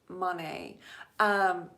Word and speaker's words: Monet: Monet's garden, not to be confused with Monet's, because I was saying it incorrectly. The proper pronunciation is Monet.